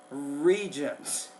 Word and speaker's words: regents: The R sound in that one is regents.